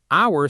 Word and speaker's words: hour: Hour starts with the letter H, a consonant, so you'd think a hour, but the H is silent.